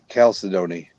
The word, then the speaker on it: chalcedony: Gold Panda Dutchie's got a cool one for Mexico with blue chalcedony. Chalcedony, Chalcedony. Chalcedony. Chalcedony. You put the emphasis on the wrong syllable.